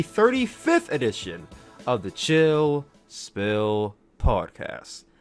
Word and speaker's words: Spill: We'll talk about all this and more right here on the 35th edition of the Chill Spill Podcast. The S is silent, by the way.